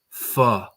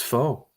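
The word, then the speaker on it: pho: Fu. That's how you're supposed to pronounce it. I thought it was fo the Don't you spell it like that then?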